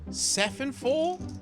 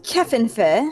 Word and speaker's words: Kefenfor: Is it Sephenfor or Kefenfor? Well, Because I've heard I both you and your husband pronounce it different ways, so I'm not sure which one to go with. it's Kefenfer. Ah, I was right. It is a hard C.